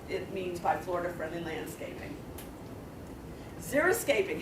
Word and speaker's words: xeriscaping: Xeriscaping. How many of you have heard of xeriscaping? How many of you know that when the reporters on TV say xeroscaping, they're mispronouncing it?